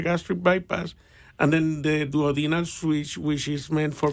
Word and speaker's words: duodenal: And then the duodenal switch, which is meant for people.